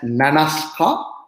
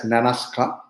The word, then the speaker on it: Nanaska: it's pronounced as nanaska it's pronounced as nanaska so i want to take little time from